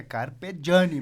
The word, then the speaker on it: Carpeggiani: Eu pedi para ele como é que se pronunciava, ele falou que é Carpegiani mesmo.